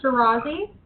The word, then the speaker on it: Chiurazzi: And then how do you pronounce your last name appropriately? Chiurazzi. Chiurazzi. Thank you very much.